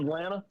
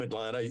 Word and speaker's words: Atlanta: I'm from Atlanta. You are? What happened to Atlanta? Yeah. We skip the T. Yeah. Yeah. Yeah. And if if you're not from Atlanta, they say Atlanta.